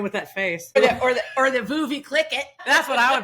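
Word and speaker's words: Veuve Clicquot: Is it some French name? Vive Clicquot. That's exactly what it is. Okay. Is that how you say it? Viv, yeah. I don't know that my French is awesome, but I think that's pretty close.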